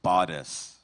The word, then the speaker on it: bodice: Bodis. Bodis. Am I pronouncing it correctly?